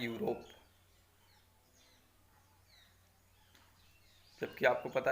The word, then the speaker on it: Europe: की स्पेलिंग लिखी EUROPE, लेकिन जब हम इसको हिंदी में यूरोप लिखेंगे तो सबसे पहला अक्षर बनाएंगे या यज्ञ का या यात्री का। वो वॉवेल नहीं होता है। जो हिंदी अल्फ़ाबेट होती है, हिंदी वर्णमाला होती है, इसमें वो स्वर नहीं होता है, वॉवेल्स नहीं होता है।